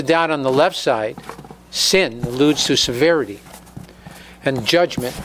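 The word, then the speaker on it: שׂ: the concept of kindness when the dot is on the left side the shin is pronounced sin this alludes to guevara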